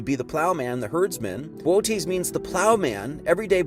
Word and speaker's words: Boötes: Its real name is Boötes. I think is how you say that.